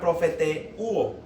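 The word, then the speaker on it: προφητεύω: Profetizar, del griego profeteo, así como suena profeteuo.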